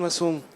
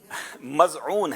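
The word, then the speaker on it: مظعون: थोड़ा सा इनके प्रोनाउंसिएशन में फर्क है ना। उस्मान बिन मासूम। मज़ऊन है।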